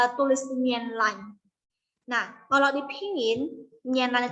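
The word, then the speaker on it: 棉兰: Nah, kalau dipingin, Mianlan itu M-I-A-N-L-A-N. Mianlan. Ini cara bacanya.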